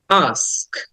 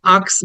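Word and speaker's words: ask: The next word is আস্ক, আস্ক। আটা একটু open করে, মুখটা ওপেন করে আটা লং করে বলতে হবে, কারণ এটাকে লং সাউন্ড বলে। আমরা ওটা অনেকে আক্স বলি, কিন্তু উচ্চারণটা হবে আস্ক।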